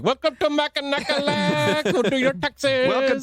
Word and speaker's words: Mackinac: It's Mackinac, actually. What? It's Mackinac. That's how they say it up there. What? Yeah, it's not Mackinac. It's Because the Mackinac. town of Mackinac City is up here. It's got a C on the end.